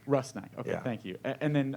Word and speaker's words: Rusnák: correctly is it pronounced i mean it's rusnak russ knight okay thank you and